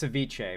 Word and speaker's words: ceviche: love all those things it's Ceviche my bad um there's no r in it brother I I listen